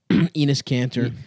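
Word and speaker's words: Enes Kanter: Enos Kanter. Penis Kanter. Penis. Mm-hmm. It's actually pronounced Ennis, but whatever.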